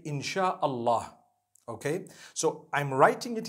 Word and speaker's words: Insha'Allah: s-y-a they pronounce it they pronounce the s-y the way we pronounce s-h so they can write